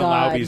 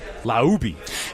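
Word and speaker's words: Laube: Or was it a Either way, the pronunciation of Dylan Low's name? It was Laui in the press box for in Houston, they said his name wrong four different time.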